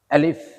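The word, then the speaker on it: ألف: এই সঠিক উচ্চারণ আমরা পড়বো ইনশাআল্লাহ। দেখেন বোর্ডের দিকে। আলিফ।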